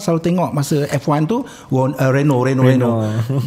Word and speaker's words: Renault: Dengar selalu tengok masa F1 tu Renault Reno Reno datang dia please how do you pronounce this? Can you teach us? Renault.